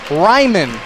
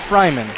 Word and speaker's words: Ryman: fell for iemon Fryman Ryman not Fryman rhyme it is rhyming